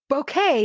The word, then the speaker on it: bouquet: Bouquet is bouquet, not beau, that rhymes with so.